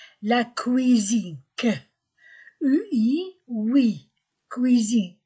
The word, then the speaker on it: cuisine: La salle à manger et la cuisine, que, UI, oui, cuisine, S entre deux voyelles, Z.